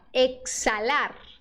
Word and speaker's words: exhalar: aqui aí pronto exalar exhalar exhalar tá vendo esse H mudo mudo mudo mudo tá aí pr